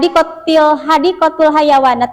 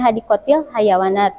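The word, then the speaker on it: حديقة الحيوانات: bin kebun binatang ya had hadatul hayawanat itu kebun binatang ya karena di sini ada jadi bacanya hadiqtil hayawanat gitu kemudian e Zakiah ya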